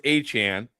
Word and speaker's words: Etienne: Travis Travis Etienne when he went to New Orleans said his name is Achan is pronounced Achan.